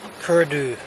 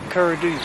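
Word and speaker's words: Caora Dhubh: And the D, the B at the end is silent, but can also be pronounced as a V or VH sound. So, in this particular case, Curdu.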